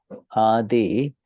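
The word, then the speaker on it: आधि: And it's pronounced adi.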